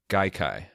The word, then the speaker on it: Gaikai: It's a Japanese word.